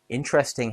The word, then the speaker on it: interesting: M minute interesting has three syllables stress on in.